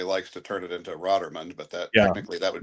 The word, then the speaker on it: Rotermund: the trap where he he mispronounces my last name. So, I have to I'm going to I'll straighten that one out. So, so but my my name is Roderman.